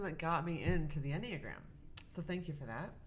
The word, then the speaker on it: Enneagram: go episode number seven e is for anagram or enneagram enneagram there we go i call